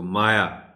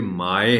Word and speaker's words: مائع: تلفظ کے ساتھ پڑھیں۔ عام طور پر اس کو مایا پڑھ دیا جاتا ہے، حالانکہ مایا اور لفظ ہے، یہ مائع ہے۔ مائع ایسی مادی چیز